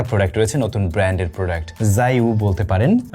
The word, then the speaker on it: JIAYOU: আজকের ভিডিওতে আমাদের সাথে একেবারে বাংলাদেশের নতুন একটা প্রোডাক্ট রয়েছে, নতুন ব্র্যান্ডের প্রোডাক্ট, জাইউ বলতে পারেন। এটার উচ্চারণটা একটু ডিফারেন্ট ভাবে হয়, JIAYOU, জাইউ।